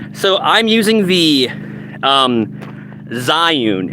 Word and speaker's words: Zhiyun: just gonna yeah so I'm using the um Zion it's spelled z-h-i-y-u-n the Zion crane MS2 I got it on sale like